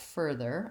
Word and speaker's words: further: If I look at further, I just have an a voiced TH and another plus my F at the beginning, first syllable stress, further. So to build this, start